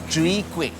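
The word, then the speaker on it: chwee kueh: How do you pronounce this dish? Chui quick.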